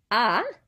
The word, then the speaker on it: as: Ah, pronounced the same as this. We don't pronounce the S because it's not part of careful, right?